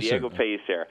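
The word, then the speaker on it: Diego Pellicer: It's Jamon Shively and the company is Diego Pacer. Am I pronouncing that correctly? Uh Piser. That's correct. Diego Piser.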